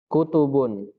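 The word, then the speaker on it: كتب: Kalau yang tidak panjang, taknya bacanya apa? Kutub. Kalau yang panjang taknya bacanya kitab.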